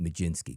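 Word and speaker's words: Mlodzinski: How do you pron or I know how to pronounce ML O D, right? Majinsky.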